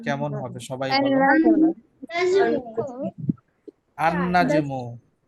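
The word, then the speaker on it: النجم: না হচ্ছে না আচ্ছা তার মানে আল নাজমু যদি কেউ বলে সেটা ভুল হবে রাইট কি বলতে হবে আন নাজমু নাজমু মোটামুটি আশা করি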